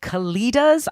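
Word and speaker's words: Kalidahs: where she sends something called kalidas I believe is how it's pronounced and it's k a l i d a HS and it's like a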